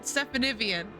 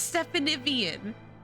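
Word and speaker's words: Stephanivien: on no if he asked you to pronounce it stephanievian that's how you pronounce it see no see it's right there it's it's stephanievian it's it's right there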